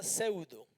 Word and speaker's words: pseudo: Se llama pseudo, pseudo cristiano, pseudo profeta o pseudo apóstol. con P. La Po, pseudo, como se escribe psicología, pseudo no se nombra, pero tiene la P antes.